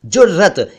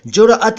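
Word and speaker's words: ज़ुरअत: वैसे ये शब्द उर्दू में जुरअत है, यानी उसका उच्चारण कुछ डिफरेंट है। जुर्रत नहीं है, जुरअत है, लेकिन आमतौर पर जुर्रत चलता है।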